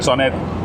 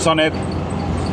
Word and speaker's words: Sonett: consiguió buenos resultados con el sonet o sonet como se debe pronunciar en competición eso Unido